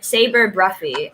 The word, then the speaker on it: Sabre Bruffy: so it's saber and then how do you pronounce your last name bruffy saber saber bruffy awesome i don't know if you remember i